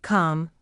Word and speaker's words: calm: The letter L is silent in could, should, calm, half, talk, palm, walk, salmon, and chalk.